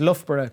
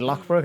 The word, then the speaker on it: Loughborough: there now yeah so it uh so it's pronounced loughborough college sorry yeah i was like is it lockbroke it's a little everything like new correction here